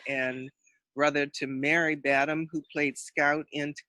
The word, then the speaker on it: Badham: It is Badham. and, see, just like John Badham, who was the great director and brother to Mary Badham, who played Scout in To Kill a Mockingbird.